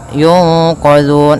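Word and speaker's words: يُنقَذُونَ: Hati-hati dalam pelafalan zal, jangan sampai dibaca dengan zai. Jangan yunqazun, tapi dia yunqazun.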